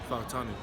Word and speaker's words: Fautanu: Fautanu.